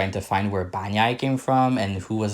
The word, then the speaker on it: Banyai: said it would be Banyai. So if you hear me say Banyai instead of Banyoi, I'm pronouncing the way that it is pronounced in Romanian.